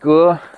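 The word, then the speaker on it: 革: So it's pronounced Ge in the word Wenge, cultural revolution, and Gai Ge, reform.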